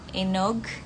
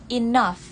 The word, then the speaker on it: enough: Bukan enog, bukan enog, tapi enough. Kalau American agak ke nekannya, jadi enough. Enough. Kalau British, enough.